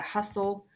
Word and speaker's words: hustle: the coach said to hustle down the court notice this is a silent tle so this is the exception hustle and castle and whistle those are all exceptions for constant Ellie Sim pull I